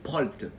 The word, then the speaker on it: Prault: Alors mon nom, je vais vous le dire, vous vous souvenez de pro comme professionnel. Ça c'est facile à retenir. Mais ça s'écrit Prolt, c'est-à-dire P-R-A-U-L-T. Bien évidemment, Xerius vous mettra un lien de mon Facebook en dessous.